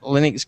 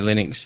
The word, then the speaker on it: Linux: That actually, we pronounce it Linux, but there's actually a recording. You can find it if you hunt for it. And it's somebody actually asked Linus how you say it, and he said, I call it Linux because it's named after him. So even though we actually all call it Linux, it is actually called Linux.